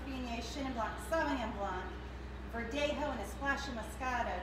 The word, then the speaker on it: Verdejo: There's a Spanish grape, it's Verdejo, with a J.